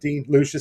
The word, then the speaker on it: Dean Lucius: So Dean Lucius, is that how you pronounce it? Dean Lucius.